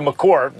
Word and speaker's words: Maker: is because the trajectory of Maker's development, or McCorr, correct pronunciation, is not going quite like in a linear way up.